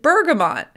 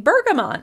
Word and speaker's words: bergamot: As we continued to discuss Earl Grey tea, I noticed that my friend pronounced it bergamot. And so, of course, when I got home, I looked up the pronunciation and realized that I've been pronouncing this word wrong for years.